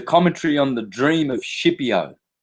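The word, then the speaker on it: Scipio: on the dream of shiio if you're Italian skipio for anyone else the dream of skipio properly pronounced shio now who was shio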